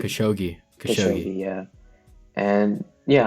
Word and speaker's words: Khashoggi: Jamal Khashoggi. Khashoggi.